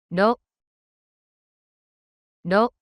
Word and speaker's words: ろ: ろ、ろ、 The pronunciation of character loop in Japanese is something like the combination of ROH in English.